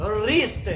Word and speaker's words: wrist: हम लोग इसको वरिष्ठ नहीं बोलेंगे, इसलिए W के बाद में यदि R आता है तो हम लोग W को साइलेंट कर देते हैं।